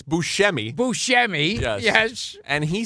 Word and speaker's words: Buscemi: you ever seen you dishonor him again by mispronouncing his name now it's Buscemi Buscemi yes and he said he said I love